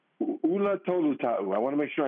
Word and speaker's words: Ula Tolutau: Ula Tolutau.